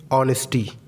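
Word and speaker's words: honesty: H silent कब होता है? जब कभी भी एच के बाद ओ आ जाए तो एच साइलेंट हो जाता है। जैसे ऑनेस्टी, ऑनरेडी, ऑनर।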